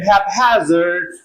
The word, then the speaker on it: haphazard: And in haphazard, p is pronounced p, and it is pronounced h. Same. Yeah, different morphemes. And the other reason is stress splits p from h. And also the two come from different morphemes. Haphazard, there is stress on hap.